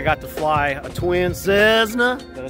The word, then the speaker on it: Cessna: I got to fly a twin Cessna.